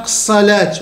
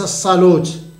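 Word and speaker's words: الصلاة: الكلمه لا يغير النطق الصلاه تكتب بالالف وتكتب بالالف فوق الواو لكن تنطق الصلاه وليس الصلوت ناس ما تولوش القران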